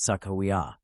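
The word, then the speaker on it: Sacagawea: woman from the early 1800s whose name is pronounced Sakawa.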